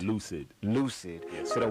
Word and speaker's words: 1Ucid: Oh, you spell it with one UCID. So how's that pronounced? Lucid.